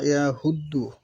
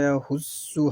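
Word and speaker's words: يحض: যে ভুলটা করে ওয়ালা ইয়াহুদ্দু, এই শব্দের উচ্চারণ করে এখানে সাদের পরের হরফ জোয়াত এসেছে। ওয়ালা ইয়াহুসসু হবে, তারা বলে ওয়ালা ইয়াহুদু, ওয়ালা ইয়াহুদু বলে আলা তাআমিল মিসকিন।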